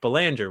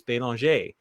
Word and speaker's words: Belanger: name is Jeff Belanger, which is how I pronounce it here in the United States. However, it's a French name. And when in France or Canada, I pronounce it like the locals, which is Belanger.